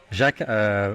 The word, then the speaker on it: Jacques: Jacques with the French pronunciation.